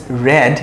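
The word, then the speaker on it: read: English I রেড বুকে এটা একটু ইম্পর্টেন্ট রিডস্ট রেড কিন্তু বানান একই রাইট এখানে একটু কনফিউজ হয়ে যেতে পারেন এটার উচ্চারণটা কি হবে রেড আই রিড বুক মানে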